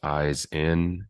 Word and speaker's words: Ihsan: Yeah, so my name is Ihsan. It's pronounced eyes in, and I am on this path of remembrance, helping people connect deeper into the essence of their being.